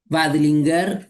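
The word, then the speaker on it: Veidlinger: este libro, ahora sí, del profesor Jeffrey Wadingler, se escribe B corta Eidlinger, Wadlinger, Jeffrey.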